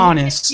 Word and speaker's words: honest: And then the last one, it's a silent H. Honest. Oh, like our.